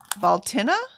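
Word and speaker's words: Bealtaine: Annette says we pronounce it Baltina.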